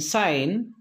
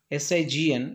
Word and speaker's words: sign: And sign, S-I-G-N, it is not SIGN, sign, campaign, G silent, design, resign, foreign, all the words, in all the words we found G is silent.